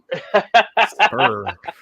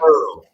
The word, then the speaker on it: Spruill: I said it the way it's spelled. It's misspelled and it messed me up. Wow. Slow down the drinking, buddy. It is Spruill, right? Spruill. Yeah. Spruill. Oh, I thought it was SPUR.